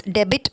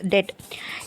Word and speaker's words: debt: okay other than that you should not pronounce it as debit it is dead india's current quota in